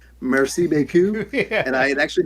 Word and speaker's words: merci beaucoup: And I think I just read out Murky B Cup over the announcements to the entire school.